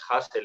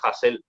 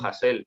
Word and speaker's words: Hasél: de hacer el ridículo si hay un acento en la e no es hámster es Hazel ya está es Pablo hassell tiene un acento en